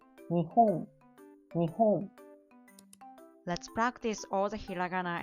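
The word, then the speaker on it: 日本: So this is 3. So it means 3 beat. Nihon, nihon.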